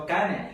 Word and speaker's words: Kane: Because you've been asking, how do you really pronounce this? So Kane.